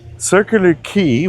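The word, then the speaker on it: Circular Quay: So, circular key, when you hear it, you'd think key is spelled K E Y. But the reality it's spelled Q U A Y.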